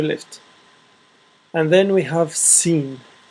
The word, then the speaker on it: س: and then we have scene scene I prefer it like this scene it's s so seene a straight line and then have half a circle that's scene it's really simple half